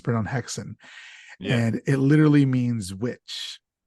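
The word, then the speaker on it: Häxan: you for his breakout third film which was hackson and so haxon does star Marin Peterson as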